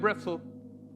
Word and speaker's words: Brettzel: Let's get that Brettzel. It rhymes with pretzel for a reason.